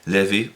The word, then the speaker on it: LaVey: primeros libros de Sándor Lavey, iba a decir, pero en realidad se llamaba Howard Stanton Levy. Y sí, Lavey, pronunciado a la inglesa, a la americana, Levy, es más parecido a su nombre original, así que llamémoslo Anton